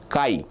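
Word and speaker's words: chi: The pronunciation for this is Kai.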